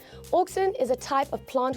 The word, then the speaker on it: auxin: auxins is is or oxen is a plant hormone uh specifically a growth hormone now it is spelled Au oxen although it is supposed to be said oxen but say it as